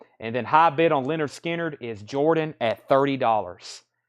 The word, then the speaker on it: Lynyrd Skynyrd: matter to me and then high bid on Leonard Skynyrd is Jordan at 30 dollars Jordan's at thirty dollars on pronounced Lynyrd Skynyrd let me grab a new